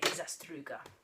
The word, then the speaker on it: Zastruga: Well, what I do is put on an accent like you're, you know, a Bond villain, a Russian Bond villain, and say Zastruga, okay?